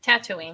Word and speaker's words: Tatooine: Tatooine.